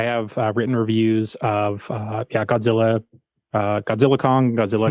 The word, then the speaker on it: Godzilla x Kong: Yeah, I think it's just like Godzilla Kong: The New Empire. That's technically the way it's pronounced. Okay. You don't pronounce the X, but I know that's kind of weird.